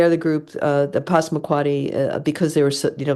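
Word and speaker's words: Passamaquoddy: Um okay the the largest tribe you're absolutely right is the Posmuquati. Okay. Tribe you were close in the pronunciation. Um and uh they they are the group uh the Posmquati because they were you know by far the largest group.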